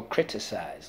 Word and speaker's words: criticize: That is rule two, soft C. When followed by Y, I, or E.